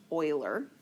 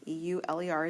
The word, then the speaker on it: Euler: something called Euler diagrams that is how it's pronounced Euler e-u-l-e-r is Euler okay and Euler is a mathematician